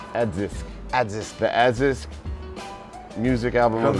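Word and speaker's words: ADISQ: And I can't pronounce the ASDIQ. It's Adzisk. Adzisk.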